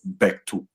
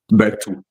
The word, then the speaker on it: Berthou: you come to the French side, it is Bectu. Bectu. Yeah, and it's a French name, though. It's a French name. That's why it has that. But as I was growing up, we just had it as Beto, Beto, Beto, because I didn't even know how